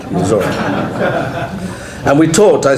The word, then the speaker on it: Missouri: You see, I learned to say it right, Missouri.